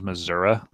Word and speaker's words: Missouri: The proper pronunciation is Missouri, which is ridiculous.